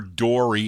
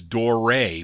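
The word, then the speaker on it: Doré: not pronounced door or door e it's door a with the accent over the e anyway judging here for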